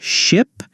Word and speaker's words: ship: First, let's work on ship and sheep. Ship, short I sound, ship. Sheep, long E sound, sheep.